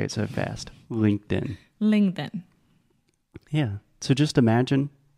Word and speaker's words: LinkedIn: top of your mouth a stop te is the exact same thing but we do not aspirate aspirate is a complicated way to say the T the T so stop T we don't do that but everything else is the same so sometimes we use a try and say Linked In most of the time we say LinkedIn okay does that make